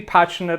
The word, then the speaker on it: passionate: And he's extremely passionate about the business. Passionate. Passionate. It's an adjective. So nouns and adjectives that end with ATE are pronounced it at the end. It.